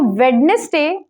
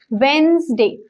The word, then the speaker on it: Wednesday: say that so I know could students so Wednesday is the wrong pronunciation correct pronunciation is Wednesday pronounce the spelling is correct but is silent